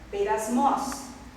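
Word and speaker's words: πειρασμός: fazer algumas considerações e gostaria de trazer como informação a palavra tentação na língua hebraica ela ela se pronuncia massar no grego peras mos e significa provar testar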